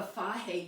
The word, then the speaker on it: Fage: The good stuff is either the Fage yogurt. If you're not familiar with it, it's spelled F-A-G-E.